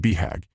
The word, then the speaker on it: BHAG: The acronym “BHAG” (commonly pronounced bee-hag) is universal to both entrepreneurs and self-help authors.